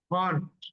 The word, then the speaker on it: खान: वो क्या बोलते हैं, my name is खान, खान, ह फ्रॉम द एपिग्लॉटिस।